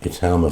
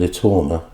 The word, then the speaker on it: Itauma: Just how special for the whole Itauma family is this night going to be on the 28th?